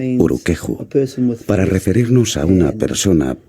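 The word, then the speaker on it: urukehu: Se pronuncia Uruqueju, para referirnos a una persona pelirroja y de piel clara.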